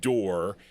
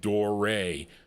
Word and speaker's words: Doré: Not Door. There's an accent over the e. Doray.